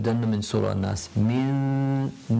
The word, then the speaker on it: مِن: We kind of are waiting on the makhaarij of the sheen, which is the middle of the tongue, before we pronounce it. Min. So I'm just waiting to say the sheen.